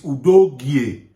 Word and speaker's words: Udogie: I don't know why people always pronounce his name Udogie. His name is Udogie. Udogie. Yes, that's how it's pronounced.